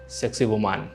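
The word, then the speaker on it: Sacsayhuamán: dedicated to Inca's god and another one was Seqsaywoman I know its a family channel..hehe but that's how you pronounce.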